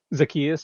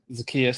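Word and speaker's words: Zaccheaus: Oli is it I believe it's pronounced Zetius. Zakius. Yep. Zakius.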